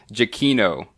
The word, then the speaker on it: Giacchino: Giacchino is how you pronounce it.